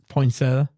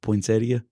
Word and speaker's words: Poinsettia: Poinsetta. Yeah. Poinsettia.